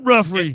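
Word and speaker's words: Giuffre: It's Ruffrey. In the document, Ruffrey alleged that many of the sexual encounters occurred under the guise of massages that Maxwell, a British socialite, procured for Epstein and others. Guffrey claimed that while she was a teenager, Epstein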